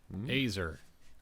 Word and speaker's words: Azer: This week we are on the final entry in A, which is the Azer? Ayzer.